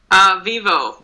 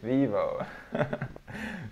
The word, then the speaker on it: Vivo: Usually we the letter O for us in the end of a word, we don't pronounce O, we pronounce U.